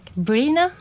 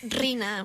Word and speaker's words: Rina: If I say Rina, like they don't understand. They will be Brina, Grina, It's actually Rina.